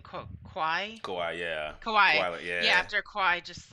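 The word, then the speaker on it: Kawhi: since um i was i never kind of pronounced his name kwai yeah kawaii yeah after kai just like just killed us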